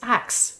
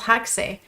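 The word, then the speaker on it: Haxe: pronounce it well the the guy who invented it uh nikola is french so i'm sure in his mind it's axe because there's no ancient match we just don't say them yeah but ever since audell has discovered it he says haksey so i say hexy as well but you know okay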